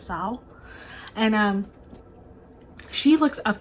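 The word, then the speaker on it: Seol: probably gonna say wrong the L is not pronounced her name is spelled s-e-o-l but when they say it in the book it's not pronounced so I think it's Sal and um she looks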